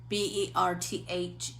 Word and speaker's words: Berthe: It's spelled, let's see, it looks like birth, Berthe, Morisot, Morisot, French.